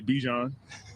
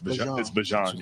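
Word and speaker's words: Bijan: Um I know a lot of people say Bjon, but it's Bjan. Sunny Bjon. Sunny Bjan. So if you've been pronouncing Honey Ban's name Bjon or however, uh you're a fake fan.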